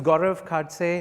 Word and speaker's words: Gaurav Khadse: a little bit about me my name is gaurav kadze it's a little difficult to pronounce so please call me as i